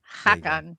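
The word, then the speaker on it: Haakon: Do you know how you spell it? H A A K O N. Hakan.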